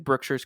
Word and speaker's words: Brookshire's: hear anybody sending an email saying that I'm pronouncing Brookshire's incorrectly because I am a Texan Brookshire's is